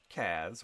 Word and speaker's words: Kaz: We've got Kaz, which rhymes with jazz.